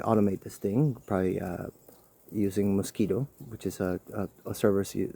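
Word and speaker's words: Mosquitto: It's like, hey, we could probably automate this thing, probably using Mosquito, which is a service you subscribe to. It's spelled different, but it is just like the bug.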